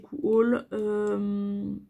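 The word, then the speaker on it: Coohaul: Et en plus, chez Cool, alors ça s'écrit C-O-O-H-A-U-L.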